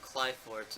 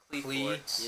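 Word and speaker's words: Qliphort: Yeah, and the pronunciation is Cly. Yeah, not Clee or, Cleforts or, Quill or yeah. anything like that. It's Cly, but I won't be like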